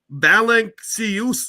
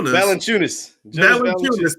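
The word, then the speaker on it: Valančiūnas: nba made last year his name is jonas balancious sioux valenciunis thank you i can't pronounce this but it's interesting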